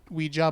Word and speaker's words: Ouija: oh yes called the Ouija board or we Ouija board oh apparently both pronunciations are acceptable all right yeah I've